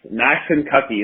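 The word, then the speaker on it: Maxinkuckee: got you max yes max and cocky that is how you pronounce that um it is it is a tricky one and it took me a while to master that um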